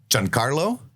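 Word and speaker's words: Giancarlo: it is okay so John Carlo John Carlo John Carlo John Carlo exposito I love him it's an Italian pronunciation I'm going to take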